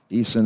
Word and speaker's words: Eason: Jackson it's totally different Eason okay Eason is the correct pronunciation thank you Bentley Anthony